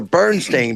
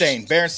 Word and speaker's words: Berenstain: Wuzzles, and is it the Berenstain or the Bernstein Bears? Berenstain Bears. Berenstain Bears spelled with an E.